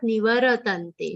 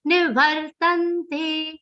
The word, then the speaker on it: nivartante: The ra between va and ta is half, not nivaratante. Nivaratante is incorrect. Nivartante, the ra sound is half.